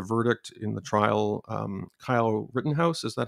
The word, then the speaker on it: Kyle Rittenhouse: we heard the verdict in the trial um kyle rittenhouse is that how you pronounce his name yeah and he was uh